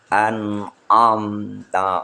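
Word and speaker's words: أنعمت: Dan nun mati bertemu dengan ain, ijhar. Jelas dan cepat. An'amta alaihim.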